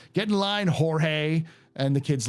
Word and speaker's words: Jorge: Davy ranks yeah he's it's spelled j o r g or Jorge but he calls himself George yeah I have that